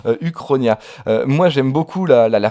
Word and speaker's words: Uchronia: trouver donc ça s'appelle ça s'écrit huronia quoi mais ça se prononce évidemment uchronie ya moi j'aime beaucoup